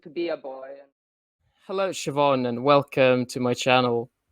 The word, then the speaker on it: Shivonne: Is that how you pronounce your name? Is it Shivonne? Yes, Shivonne.